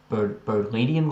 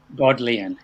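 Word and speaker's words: Bodleian: a little bit about is it called the berlinian library is that how you pronounce it god leanne yeah it was started by thomas modelling yeah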